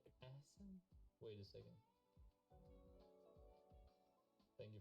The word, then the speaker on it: Ahsan: Pronounce it right? I'm gonna argue with the Google. Hold a second. Ahsan. It's Ahsan actually.